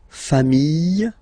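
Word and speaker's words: familles: Final S not pronounced fami singular form fami plural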